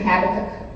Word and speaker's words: Habakkuk: So it's coming from the book of Habakkuk. They say emphasize the second syllable.